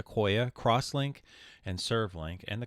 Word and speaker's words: IQOYA: It's pronounced IQOYA, crosslink, and SERV.